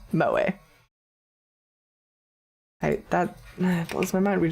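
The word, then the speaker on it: 萌え: Also used to refer to the culture of entertainment centered around characters who possess such traits, pronounced moe.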